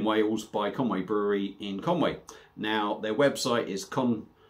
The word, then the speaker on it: Conwy: by conway brewery in conway now their website is con conway brewery obviously if you don't look back at this conway is spelt c-o-n-w-y uh so the website